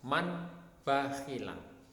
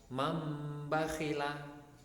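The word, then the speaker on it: مَنْ بَخِلَ: Contohnya adalah man bakhila. Ini ada nun sukun ketemu ba, kemudian membacanya adalah mambakhila.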